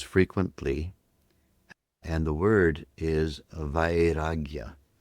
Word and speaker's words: vairagya: In the yoga sutras is a word that Patanjali uses frequently and the word is vagya.